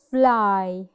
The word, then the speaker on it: fly: We pronounce another letter which is I. Here we have fly.